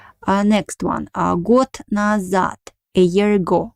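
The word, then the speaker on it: год: moment about pronunciation uh the words got and at the end i uh not only yeah of course we write a letter the letter is a voiced consonant in russian language but at the end of the word it becomes voiceless so we pronounce it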